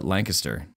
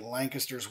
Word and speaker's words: Lancaster: the United States and it is Lancaster I often joke and say there's a hidden G in there between the N and the C so you get that lang aspect and then histor it's like k IST ER so lancaster so